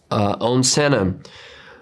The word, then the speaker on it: Senna: Did I pronounce that right, Senna? Senna, perfectly.